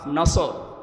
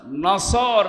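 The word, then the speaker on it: نصر: সূরা নসর, কোন সূরা? বলেন বলেন, নসর না নাসর? নুন সোয়াদ র।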